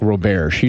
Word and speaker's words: Roberge: us by the way I'm here with Mark ro-bear she see yeah bears right thank God that's an amazing last name he's for pronouncing it so anyway you went to Ohio